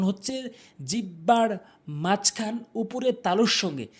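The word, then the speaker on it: حاء: এরপরে হা ভুল উচ্চারণ, হা ভুল উচ্চারণ, সঠিক উচ্চারণ হচ্ছে হা, হা। অর্থাৎ হলকের মাঝখান থেকে হাটি উচ্চারণ হবে।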